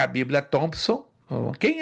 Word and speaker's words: Thompson: Se pronuncia, escreve Thompson, mas se pronuncia Thompson.